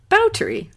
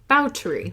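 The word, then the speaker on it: Báthory: But on his podcast, I learned that it is actually pronounced Bathory. Bathory. Which is interesting, because Hungarian language, you kind of like say the two parts of Bathory separately.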